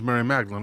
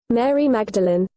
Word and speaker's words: Mary Magdalene: of the thing fairly easy to transport was mary magdalene a prostitute i'll take a look at that